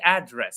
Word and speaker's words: address: So address as a noun, we we stress the first syllable, but as a verb, I will address him, or the president will address the minister. We highlight the second syllable.